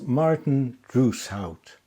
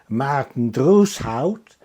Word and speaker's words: Marten Droeshout: For starters, let's learn to say his name right. It's Marten Droeshout. If you're Dutch, then you can say it in the Dutch way, which is Marten Droeshout.